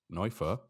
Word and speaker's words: Neufer: So it comes from Marius Neufer, or if you want to pronounce it like a real German speaker, it's Marius Neufer.